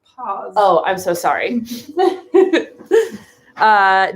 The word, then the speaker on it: Paz: a lot about this her last name is p a z pronounced paws oh i'm so sorry